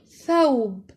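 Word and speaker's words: ثوب: Example, thawb, which means a garment.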